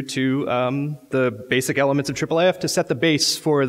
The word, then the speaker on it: IIIF: international image interoperability framework so because that's a lot of words and a lot of syllables we say triple AF I've really enjoyed in